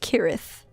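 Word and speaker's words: cirith: uh s kirith cute it's pronounced kirith huh okay yeah i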